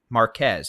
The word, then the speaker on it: Marquez: again circulation number one very near Marquez we could have two possible tornadoes with this storm now possible tornado one near Marquez or as Mr meteor Jason coie says that is pronounced Marque by the way forget that Z exists so Marque marqu I'm in